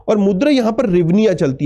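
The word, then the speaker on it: hryvnia: और मुद्रा यहां पर रिवनिया चलती है। भले एच से स्टार्ट हो रहा है, एच यहां पर साइलेंट है।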